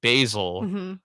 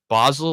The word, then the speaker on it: Basel: b-a yeah continue so my last name is spelled b-a-s-e-b-a-s-e-l basil but people pronounce it as Basel like the city in Switzerland okay or the way you